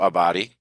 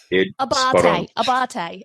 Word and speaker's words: Abbate: And we have Donna Abbate and Marcello Abbate. Did I say that right, guys? Did I say it right? Abbate.